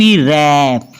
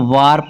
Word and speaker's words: wrap: WARP रैप। इसको वार्प नहीं पढ़ना, रैप।